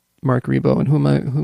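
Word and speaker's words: Marc Ribot: about Mark rebo which Nell's very subtly and and nicely corrected my pronunciation I've called him Mar cry before ever but Mark rebo and Who am I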